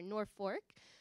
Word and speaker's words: Norfolk: a slightly larger town called Norfolk spelled Norfolk yes I think I said it right right I learned when I was there North Fork and the the newspaper